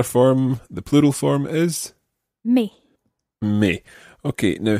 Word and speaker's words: mes: the plural form is me me okay now how would you spell me m-e-s now when you said the word for my in the plural form me you didn't pronounce the s but then when you